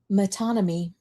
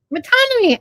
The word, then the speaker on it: metonymy: Metonymy. Metonymy. I pronounced it right.